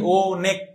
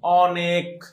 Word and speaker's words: অনেক: কেন অনেক? আচ্ছা কেউ কি আসো তুমি যে যে বলো যে অনেক, অনেক, এটা কি কেউ বলো নাকি ও নেক? এরকম কেউ উচ্চারণ করো? কেউই তো করো না, এটা আছে ভুল। সবাই কি করো, অটাকে এখানে অ এর মতো উচ্চারণ করো, অনেক, অনেক।